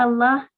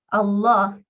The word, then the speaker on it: Allah: Una forma de pronunciar Allah es con fuerza. Allah, la lam de la palabra Allah, se pronuncia de una manera pesada. Otra forma es decir Allah. En vez de Allah, Allah. Esa lam la pronunciamos suavecita.